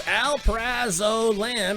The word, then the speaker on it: alprazolam: How do you pronounce that? No freedom? Okay, it's alprazolam.